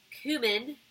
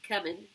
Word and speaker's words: cumin: watch this video's ground cumin as it's pronounced not coming as some people in this house tracks a somebody's not